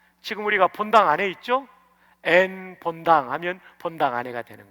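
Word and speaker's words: ἐν: 성령 안에 할 때 이 안에라는 말이 전치사인데 헬라어에서는 엔이라고 읽어요. 엔. 한번 해봅시다. 엔.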